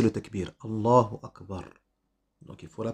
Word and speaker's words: Allahu Akbar: Ça fait partie de la bienséance de prononcer Allahu Akbar sans émettre aucune pause entre les deux.